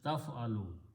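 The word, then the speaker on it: تفعل: So the word by this is pronounced as taf'alu.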